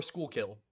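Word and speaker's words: Schuylkill: you pronounce that word it's skookul by the way or School kill depending on if you're old kill kill wow for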